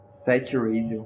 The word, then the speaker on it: Seth Raziel: Seth Raziel. É porque o TH é entre os dentes, assim, é Seth Raziel.